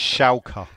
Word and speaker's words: Schalke: Is it, how would they pronounce it? Schalke. Schalke 04.